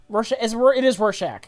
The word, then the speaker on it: Rorschach: It is Rorschach. That's how I pronounce it.